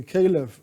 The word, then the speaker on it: Caliph: means the sovereign power the Caliph or the Calif as some would pronounce it okay is used in